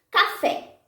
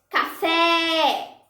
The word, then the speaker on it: café: Café. Café. Fé é a sílaba tônica.